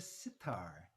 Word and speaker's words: sitar: and i play the sitar and you might notice that sitar kind of rhymes with guitar right that's because tar means